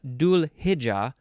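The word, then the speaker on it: Dhu'l-Hijja: and hit yep uh dual hija or hija with a D sound or a th sound dual maybe it's maybe it's more intense th yeah it's like a hija okay this is spelled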